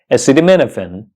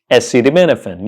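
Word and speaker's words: acetaminophen: but how do you pronounce it the correct pronunciation is acid menen SD Menin yeah you heard me right SD Menin SD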